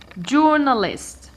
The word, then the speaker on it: journalist: eyes earth you have journalist journalist I start by dividing jaw now list I count one two three it ends with East it is here I stress the third syllable counting from the end one two three stress